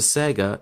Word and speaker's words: Saiga: that appears to look like canta but it's pronounced Saiga in Russian who makes the Saiga shotgun and